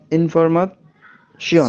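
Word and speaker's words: Information: জি টে টে এ ই ও এন মানে পাশাপাশি থাকলে উচ্চারণ হবে শিয়ন ওকে। শিয়ন। যেমন ইনফর ইনফরমাশন শিওন, হ্যাঁ।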